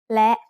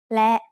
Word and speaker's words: และ: written using สระแอะ is และ which means and. และ is a high tone because it has an initial low-class consonant with a short vowel and a dead stop.